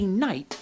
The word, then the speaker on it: knight: for instance if a knight knocked your knuckle or knifed your knee why would there be so many K's well the K's are silent by mistake the original Old English